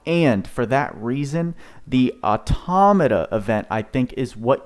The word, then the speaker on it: Automata: know what we're gonna look up how to pronounce that right now automata automata that's how you pronounce it so the